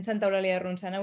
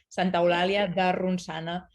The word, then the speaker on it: Santa Eulalia de Ronçana: born and raised, the three of us, in Santa Eulalia de Ronçana, which is a really small town near Barcelona. It's a very Catalan pronunciation and a very Catalan name, Santa Eulalia de Ronçana.